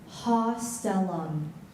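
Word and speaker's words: haustellum: Hostellum.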